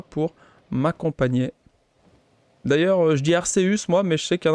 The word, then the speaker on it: Arceus: vous serez là pour m'accompagner d'ailleurs je dis arseus moi mais je sais qu'elle a qui sont team arceus alors l'a dit un commentaire ou est-ce que vous vous prononcez arseus ou arceus le nom de ce